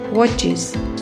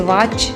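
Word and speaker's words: watch: pitches church churches वॉच वॉचेस इसे वॉच नहीं बोलेंगे वॉच हल्का ओ sound वॉच वॉचेस box boxes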